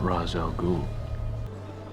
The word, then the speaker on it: Ra's al Ghul: Am I pronouncing this right? Mr. Ra's al Ghul? No. Ra's al Ghul.